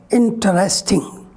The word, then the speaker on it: interesting: mispronounce this word like interesting and interesting both the pronunciation are wrong because in this word we generally pronounce three syllables interesting not interesting what